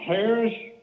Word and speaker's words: Harress: you oh look you say this mister is pronounced harris yes so and you you're from scotland and